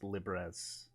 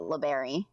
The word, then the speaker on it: Libres: It's pronounced Librez. Mary Librez. Librez. You've been pronouncing it LeBerry.